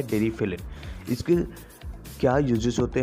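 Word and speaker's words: Deriphyllin: इसे कई लोग डेरी फाइनल बोलते हैं, लेकिन इसका सही प्रोनाउंसिएशन होता है डेरीफिलिन।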